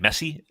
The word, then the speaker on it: Messi: And that's how you pronounce his name, Messi, like M-E. Mm-hmm.